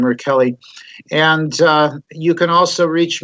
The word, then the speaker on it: Rachele: It's actually pronounced Rachele, but everybody says Rachele, but it's an Italian name, Rachele.